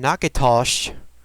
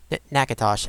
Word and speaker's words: Natchitoches: Today we are starting back in Natchitoches. That's what I tried to pronounce in the last episode and failed miserably. Apparently the first T in Natchitoches is silent. It's either Natchitoches or Natchitoches. Natchitoches.